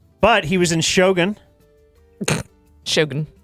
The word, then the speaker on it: Shogun: Shogun. You got to say it like that. Shogun? Yeah. Okay. That show was great. Because they said it on the show.